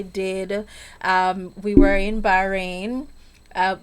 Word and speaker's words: Bahrain: um we were in Bahrain uh my kids in Bahrain would say no Miss Monique that's not how you pronounce it it is bahin you have to pronounce it properly so yes there I